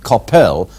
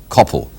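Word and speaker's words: Coppell: in fact it should not be Coppel but Capel as in hell all I can say to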